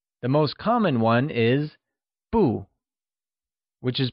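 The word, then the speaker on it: 不: The most common one is bu, which is pronounced with the following tone.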